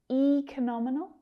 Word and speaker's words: economical: Economical. Where's that stress? Economical. economical. Now, you might hear this word pronounced econominal with a different vowel sound at the start, or economical.